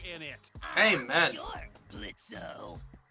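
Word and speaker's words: Blitzø: it hey man sure blitzo the O is silent now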